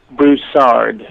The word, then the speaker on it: Broussard: Say your name, the last name, the way you want it pronounced. Broussard.